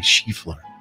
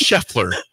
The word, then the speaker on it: Scheffler: Are you picking the favorite, Scotty Scheffler? It's Scheffler. You say Scotty Scheffler. Scotty Scheffler. I had to stop the music because you said the name wrong.